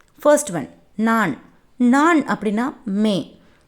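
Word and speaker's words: मैं: நான் அப்படின்னா மே. மே அப்படின்னா நம்ம ப்ரொனவுன்ஸ் பண்ணணும்.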